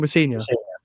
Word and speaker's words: Rosenior: And when you said about Liam Rosenior, how do you pronounce the second name? Rosenior.